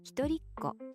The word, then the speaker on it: 一人っ子: 一人っ子 Literally means one child.